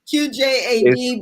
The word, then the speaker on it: QJAD: it's pronounced QJAD. It's supposed to be like initials, like especially for poems or whatnot.